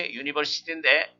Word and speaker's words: university: 근데 중요한 것이 university인데, U는 원래 모음이지만 발음 기호를 보면 자음으로 되어 있습니다.